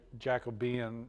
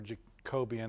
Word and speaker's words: Jacobean: But the Tudors, it's like from 1483 to 1603, and then James, that's why it's called Jacobean or Jacobian, however you want to pronounce it, was after the Tudor era.